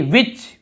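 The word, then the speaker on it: which: यहाँ पर देखिए विच, विच यानी कौन सा, यहाँ पर भी एच को नहीं पढ़ रहे हैं।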